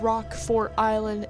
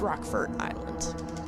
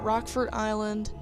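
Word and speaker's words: Rockfort Island: during the prologue um the announcer guy said rock fort island and there was a space in between so it was like capital r rock and then capital f4 but it's rockford island yeah that's how it's pronounced because it is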